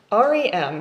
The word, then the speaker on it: REM: REM, sometimes pronounced REM, stands for rapid eye movement.